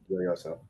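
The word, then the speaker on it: Gioioso: A very nice pronunciation on PGOSO. Joyoso.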